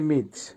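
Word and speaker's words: мыть: বাংলা হবে ধোয়া বা ওয়াশ করা আবারো বলছি উচ্চারণ হবে মিচ মিচ এর বাংলা হবে ওয়াশ করা বা ধোয়া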